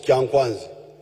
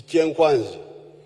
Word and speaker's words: chenkwanzi: When you hear this chenkwanzi, which the Waganda mispronounce as kyankwanzi, it is chenkwanzi.